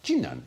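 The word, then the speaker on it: Jinan: sensitive to ethanol intoxication China the city of chinan spelled Quan but pronounced chinan in China is about the same size as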